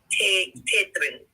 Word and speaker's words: Tetetron: Tetetron is how you would pronounce it.